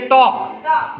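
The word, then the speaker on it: talk: टी ए एल के टॉक की spelling क्या है टी ए एल के लेकिन ये एल साइलेंट होता है हम इसे बोलते हैं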